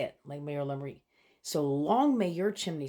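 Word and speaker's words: Lang may yer lum reek: Anyway, Lang Mayor Lumri. I'll put it on the screen here so you can see it, how it's spelled. But that's how you say it, Lang Mayor Lumri.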